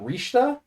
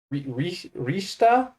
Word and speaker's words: Richter: don't know why but they're pronounced differently rather than Simon and Richter I believe it is Simone and rishta Rista yeah so there you